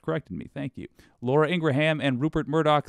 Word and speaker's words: Ingraham: by the way I used to say that name wrong Midas Touch corrected me thank you Laura Ingraham and Rupert Murdoch said about you do you